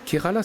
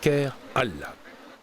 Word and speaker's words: Kerala: Kerala serait, dit-on, un nom d'origine arabe. Il était alors prononcé en 2 mots « Kher Allah », qui signifiait le bien de Dieu.